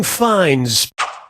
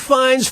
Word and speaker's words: Fiennes: Here we have Feeling Fines.